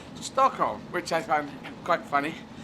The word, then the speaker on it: Stockholm: So that's how it's pronounced in actual Swedish, whereas Stockholm is pronounced Stockholm, which I find quite funny, because they're just so totally different.